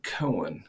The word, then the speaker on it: Koehn: And but that particular clan always pronounced it Koehn, Koehn. And for you to call it Koehn, nobody can look at that name and call it Koehn. They usually pronounce it the way we do if they see it.